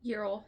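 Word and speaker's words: Uriel: Um so she talks with Ural. Is that how you say his name? Urell. Ural.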